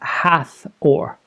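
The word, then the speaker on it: Hathor: weird thing but I've asked several online resources pronounce it and it is hath or now she is the goddess of heaven she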